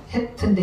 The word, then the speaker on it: חֵית: 그래서 헤트인데 히읗은 히읗인데 강한 히읗을 내요. 헤트. 해하고 틀리잖아요. 해하고 발음이 틀려. 해는 그냥 해 하지만 헤트 강하게 나가죠. 히읗이 강하게 납니다.